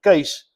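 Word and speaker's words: Kees: is Albert Zandford where he got the name case it's K E S. It's a Dutch name Case but you would pronounce it case is as C A S E.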